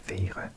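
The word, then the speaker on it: være: I need to pronounce the R a bit more German.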